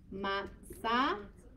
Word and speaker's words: matzah: Matzah. You could do S or you can do T. I guess S would be a little more accurate pronunciation-wise.